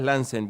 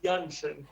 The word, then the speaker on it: Laenzen: ¿Cómo estás, Lansen? Bienvenido. Hola, ¿qué tal? Se pronuncia Jansen.